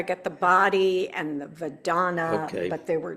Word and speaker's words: Vedana: My mind's still going, okay, I get the body and the Vedana, but there were 2 more.